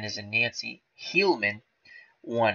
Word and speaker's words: Heilmann: Another great Tiger player, Harry Hillman, won how many titles?